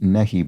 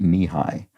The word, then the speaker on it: Nehi: It's what I used to assume was pronounced Nehi, but I think it's pronounced Nihai, which is a classic